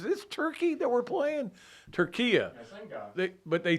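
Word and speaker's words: Türkiye: Now, I think it's still pronounced Turkey, but it's not spelled Turkey anymore. I don't know if you were aware of this, Zach. I think they say Turquia. Turquia, yes.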